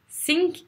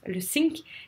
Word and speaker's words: think: les francophones avec ça parce qu'on n'arrive pas à faire le th et quand on dit what do you think about ça veut dire normalement dans la phrase est à quoi penses tu et quand on dit avec le sync est bien de ses caisses que tu coules enfin voilà ça va rien dire donc attention à ça th entre les dents wang yu ping regardez